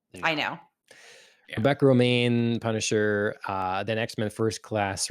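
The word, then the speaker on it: Rebecca Romijn: Remain. Okay. Remain. That's always said, but then I look how it's spelled and it's like, I no. know. Yeah, Rebecca Romaine, Punisher, then X-Men First Class, Rebecca Romaine cameo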